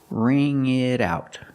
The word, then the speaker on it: wring: And the pronunciation ring it out. The t and it changes to a fast d because it's between vowels. ring it out.